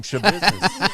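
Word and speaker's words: Schabusiness: Shabiznes. That's her name, Shabiznes.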